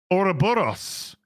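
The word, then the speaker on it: ouroboros: a 610 with a$ twoes as M please pronounce oroboros there you go orboros the snake that eats its own tail oroboros Christopher Honeycut with a $2 I love Joe's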